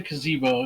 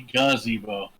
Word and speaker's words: gazebo: technically he correct but it wasn't a kazeebo it's a gazebo hard G did you actually wa